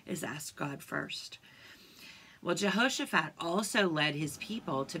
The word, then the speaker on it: Jehoshaphat: and his name is a little hard to pronounce but his name was Jehoshaphat try to say that with me Jehoshaphat it's really complicated but it's okay if you